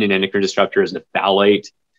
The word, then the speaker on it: phthalate: endocrine destructor is the phthalate it's spelled very funny the p is silent um but it's essentially